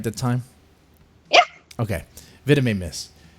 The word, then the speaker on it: Villimey Mist: Well, Villimey missed. Did I say it right that time? Yeah. Okay. Villimey missed.